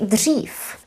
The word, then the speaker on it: dřív: But we often say dřív, pronounced as dřív.